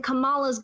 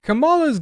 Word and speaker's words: Kamala: fight back as Christians kamala's gag okay first of all their names pronounced Kamala not Kamala I don't know why people keep doing that um and second Googs